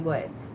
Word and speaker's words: Goécia: A pronúncia correta é Goécia, tá?